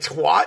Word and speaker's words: twat: Shit, twat? You went to twat? I think you're supposed to say Christ. a twat, right? Doesn't it? I don't know. I'm pretty sure we say it rhymes with cat.